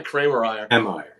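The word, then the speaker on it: Kiermaier: Kramer-Ryer? Yeah, Kramer-Ryer.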